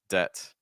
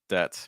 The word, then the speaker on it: debt: the reality is that debt is pronounced without the B debt debt make sure it doesn't